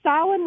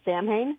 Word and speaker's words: Samhain: called the town of I'm going to say stylin which is the correct pronunciation but I can almost guarantee that they're pronouncing it Samhain oh yeah yeah because then there's the the